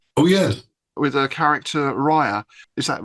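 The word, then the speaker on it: Ryre: stories as well oh yes with a character Rya is that right right pronunciation yes yes and I was also pleased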